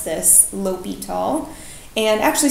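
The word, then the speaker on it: L'Hôpital: Okay, so that's how you pronounce this, L'Hopital. And actually sometimes there's an S here too, like hospital, but it's pronounced the same.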